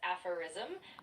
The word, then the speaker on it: aphorism: It's pronounced as apherism with the emphasis on the first syllable.